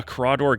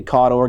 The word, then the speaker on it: Cawdor: Is that a Crawdor Ganger? It is indeed a Cawdor Ganger. Yeah, I can't help but pronounce it Crawdor for some reason.